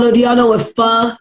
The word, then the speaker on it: pho: Do y'all know what pho? It's spelled P-H-O, but it's pronounced pho.